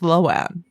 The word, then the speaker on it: Lohan: in an interview it's like yeah everyone's always pronounced it wrong it's loan like mind blown sorry Lindsay